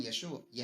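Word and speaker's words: ישוע: Cuando estaban en Israel o en países de habla aramea, como Siria, decían Yeshua, no Yeshua. Yeshua, porque eran galileos. En Galileo la Ain del final no se pronuncia.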